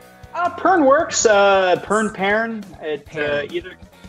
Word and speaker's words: Pearn: name burn Works burn Peron Peron like it's like the fruit you know care where